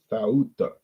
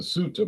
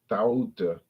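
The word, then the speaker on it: Ceuta: I went to Tauta, which I was pronouncing Suta, but I speak English. I'm not Spanish.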